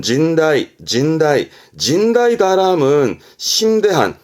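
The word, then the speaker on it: 甚大: 심자네 그렇게 외우시는 겁니다 심할 심자 시험때는 심대하다 발음은 진다이 진다이 진다이 다함은 심대한 말 그대로 심이 매우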